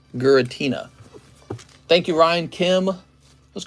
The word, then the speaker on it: Giratina: Giratina, because it's pronounced with the gur. Giratina.